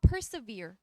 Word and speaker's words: persevere: 프리절브라고 읽어요. 프리절브 아니지, 얘들아. 프리절브는 보존하다잖아. 근데 얘는 보존이 아니라 다시 읽어봐. Persevere.